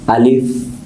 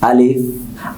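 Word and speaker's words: ألف: আলিফ কিভাবে উচ্চারণ করতে হবে বলো তো? আলিফ। আলিফ উচ্চারণের জন্য, সবচেয়ে সুন্দর উচ্চারণের জন্য আমাদের যেটা করণীয়, আমরা মুখ গোল করে গলার ভিতর থেকে উচ্চারণটা বের করব।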